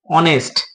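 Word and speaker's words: honest: উদাহরণ আমরা দিতে পারি এইচ ও এন ই এস টি অনেস্ট এখানে কি এইচ টা কি আমরা জানি কি কনসেনে তাহলে আমাদের নিয়ম অনুসারে কি হওয়া দরকার ছিল এ হওয়ার দরকার ছিল কিন্তু দেখো এইচ এর উচ্চারণ কার মত হচ্ছে অয় এর মত হচ্ছে অনেস্ট সেক্ষেত্রে কি হবে এন হবে আবার দেখো আরেকটা যদি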